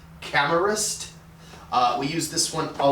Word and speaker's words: Camerist: the uh 67840 uh i believe you pronounce it camerast we use this one